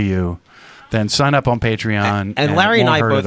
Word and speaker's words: Patreon: being one of our patreon is that the correct pronunciation yes a patron on patreon